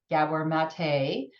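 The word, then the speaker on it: Maté: just like Dr Gabor as he said he pronounces it Gabor mate who is an incredible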